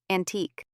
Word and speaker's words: antique: But in some words from France, u is C, unique, antique, R, double, R, and final R and E are all R.